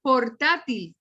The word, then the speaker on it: portátil: o neill marc moore esta portátil tiene tres sílabas pero la sílaba tónica va en la penúltima sílaba y termina en todo